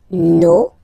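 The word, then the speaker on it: nos: Okay, and then for the plural, no, vos, and then leur. Okay, so remember, even if you get this final S, you don't pronounce it, as it was the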